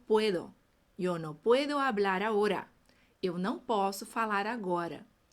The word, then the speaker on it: ahora: Yo no puedo hablar ahora. Eu não posso falar agora. Preste atenção aí na pronúncia, no ahora, que é o O bem fechadinho.